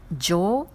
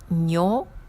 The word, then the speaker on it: 女: Alors, en onyomi, on lit jo, nyo ou nyo. En kunyomi, on lit onna ou me.